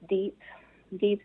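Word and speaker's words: DEHP: So that's Developed Expression of Human Potential, which is pronounced DEEP, D-E-H-P.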